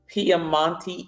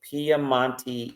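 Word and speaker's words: Piemonte: and the ACT this actual Vineyard is in piamonte Italy if I'm pronouncing it correctly paman Italy p i e m o n t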